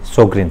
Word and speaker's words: Sjögren: इस वर्ड में जे साइलेंट होता है तो हम बोलते हैं इसे सोग्रेन सिंड्रोम।